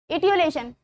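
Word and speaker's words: etiolation: इटियोलेशन word था, mispronounce हो गया था, इटियोलेशन।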